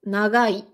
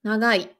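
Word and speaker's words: 長い: Par contre, si je prends un autre mot comme nagai, long, donc l'adjectif long, nagai, tu peux le prononcer je vais essayer de forcer, nagai, nagai, ça va, ou bien nagai. Donc presque comme un N, mais c'est pas un N non plus.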